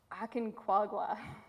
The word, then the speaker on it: Aconcagua: I meant to ask you how to pronounce the mountain. Aconcagua.